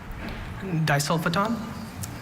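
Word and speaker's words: disulfoton: Disulfiton? Disulfiton. Does it come from Greek di, meaning 2? Yes. Disulfiton? Disulfiton. Is there any alternate pronunciations? Just the one, disulfiton. Disulfiton. 3rd syllable schwa, the sticking point here.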